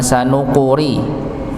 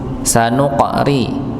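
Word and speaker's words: سنقرئك: sanuqriuka fala tansa sanuka ya sanuqari ada qaf dengan sukun maka dipantulkan sanuqor bukan sanuqori tapi sanuq sanuqri bukan sanuqur Jangan qof-nya dibaca dammah, tapi dia sukun dengan sesuai tanda bacanya, yaitu sukun.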